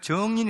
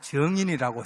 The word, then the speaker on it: 증인: 뭐 요한 몸을 이야기하다가 증 이란 표현을 정인 이라고 그랬대요 발음을 제가 경상도 발음으로 그랬더니 그분이 예 전 이 아니고 증인이라고 채는 잘 못해요 바로 무료